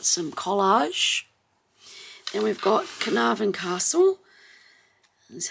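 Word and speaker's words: Caernarfon: and we've got some collage and we've got carnarvon Castle that's how you say it carnarvon castle that's where he was made Prince of Wales and that was on the 1st of July 1969.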